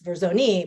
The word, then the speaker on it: Verzoni: It's like Verzone, like basically, but it's Verzoni, but they can do Ver and then zone.